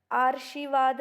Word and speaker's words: आशीर्वाद: आशीर्वाद बनता है, आशीर्वाद है कि नहीं, आशीर्वाद।